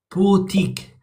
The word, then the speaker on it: boutique: Now this last t these boot, it's a very very tiny t. Bique. So it's as if you're going like whoop. Okay. Yeah. Bique. Can you try it again? Boutique.